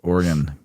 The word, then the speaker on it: Oregon: Hey, everybody in Oregon, guess what?